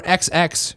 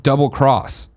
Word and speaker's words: Monster Hunter XX: Brack says I believe Monster Hunter XX should be pronounced double-cross rather than xx it's a dumb name